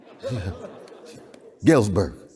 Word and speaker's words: Galesburg: Some of it manifests in Knox College, some of it manifests here in was it Galesburg, where we are? Galesburg. I just want to pronounce it right.